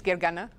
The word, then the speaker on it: Gergana: name is well actually my name is Gary Anna but I go by because that's a little bit easier to pronounce and today I'm gonna